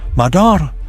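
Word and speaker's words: مادر: The Persian word for mother, madar, rhymes with the English word it mirrors because they are the same word.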